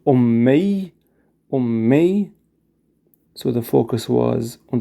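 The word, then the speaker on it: أمي: When I see all the options for it, Alif, Mim, Ya. How do we pronounce it? If you said Ummi, which means my mom.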